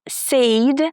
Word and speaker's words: said: So guys, it's not said. The y i is not there. It's not pronounced and it's not sad like I'm sad, it's said with the eh sound again as in bed.